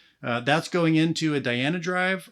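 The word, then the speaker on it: Dhyana Drive: that's going into a Diana Drive I know the last video I kept pronouncing it Dino Drive I apologize if that bothered you um so the Diana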